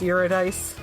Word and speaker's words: Eurydice: It's Greek, so it's not pronounced how you think it should be. Eurydice? It's Eurydice.